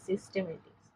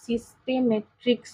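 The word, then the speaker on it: systematics: বৈজ্ঞানিক পর্যালোচনাকে সিস্টেমেটিক্স বলে উচ্চারণটা কিন্তু সিস্টেমেট্রিক্স নয় সিস্টেমেটিক্স অনেক সময় সিস্টেমেট্রিক্স হয়ে যায় লিখতে গেলে শুনতে গেলে আমাদের ভুল হতেই পারে তো সিস্টেমেটিক্স কথাটা জীবের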